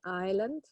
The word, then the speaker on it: island: ahead of me so the S is silent in those kinds of words okay island and how about this